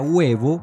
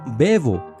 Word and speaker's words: huevo: u así por ejemplo huevo se sabía que se pronunciaba huevo y no bebo o como en la